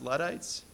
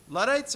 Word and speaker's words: Luddites: used to use, which is, I think it's pronounced Luddites.